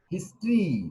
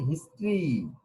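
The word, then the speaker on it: history: হিস্ট্রি, উচ্চারণটা কি বলেছি? হিস্ট্রি, হিস্টোরি নয়, হিস্ট্রি, ইতিহাস।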